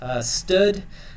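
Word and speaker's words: std: Sometimes this is pronounced stud, : cout function, and then we're writing out the characters hello through this function here.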